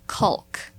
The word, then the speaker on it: caulk: Okay, for everyone listening, it is not caulk. Just some people. The L isn't Caulk, but Yes. the L is silent.